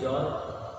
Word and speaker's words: XOR: एक्स और gate, या इसका प्रोनाउंसिएशन क्या कहते हैं? जॉर गेट बोलते हैं।